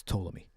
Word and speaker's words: Ptolemy: You don't pronounce the P. It's Ptolemy.